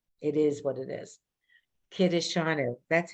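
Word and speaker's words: קידשנו: And every time you pronounce something, it is what it is. Kiddushanu. That's how you know we say it. You've all heard that word. Kiddushanu. We don't say kidshanu.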